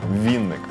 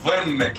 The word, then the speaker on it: Винник: Так, ну і з нами вже на зв'язку соліст гурту «Мері» Віктор Вінник. Доброго ранку! Маленьке уточнення, я Винник, а не Вінник. Вінник – це другий.